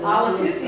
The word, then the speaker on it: Olapoozy: It's Olapoozy, which rhymes with doozy. Well, it's nice to be here with you, Mayor and City Council. My name is Olapoozy, and I'm on the